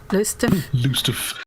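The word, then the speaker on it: Lowestoft: The locals pronounce it weirdly. It looks like Loisto, but it's they say it kind of like Lust Lust.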